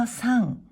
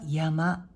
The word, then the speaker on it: 山: 音読みは 3 、く読みは山と読みます。